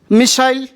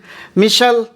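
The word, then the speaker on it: missile: चलिए, यहाँ पर मिसाइल मैन आपने सुना होगा, मिसाइल बोलते हैं, और अमेरिकन में इसे क्या बोलते हैं, ये प्रोनाउंसिएशन मैं आप ही के लिए छोड़ दे रहा हूँ। अमेरिकन में इसे एस हटा दीजिए, चलिए मिशल, इसे अमेरिकन में पढ़ेंगे मिशल, मिशल।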